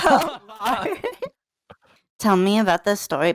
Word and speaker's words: Callari: listen to my music, I have my tag with my name and how to pronounce it in it, and then people are just like, oh. Calaro, like fuck off. Callari.